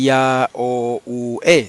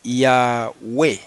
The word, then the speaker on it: Yahweh: No se dice Ya-O-U-E, no, se dice Yahweh, 2 sílabas. ¿Ok? Este diptongo griego siempre se pronuncia U, la O no suena.